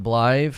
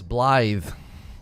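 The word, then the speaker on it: Blaidd: Pronounced Blythe. I thought it was Blythe with a TH, a DTH sound.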